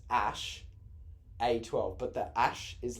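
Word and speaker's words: Æ: That's it, but it's pronounced Ash.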